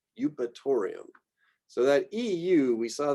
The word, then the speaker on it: Eupatorium: And so we just combine this EU and it often just gets said as U. So euonymus, eupatorium. F, also pretty straightforward, Phagopyrum, Fallopia, Festuca, Filipendula, Fimbristylis, Feniculum.